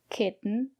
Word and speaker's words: kitten: cotton button flatten and in this case we pronounce the letter t as a stop T put your tongue up and stop the air don't release the air stop the air kit so it's a stop T and then it falls into K Kitten Mittens written flatten C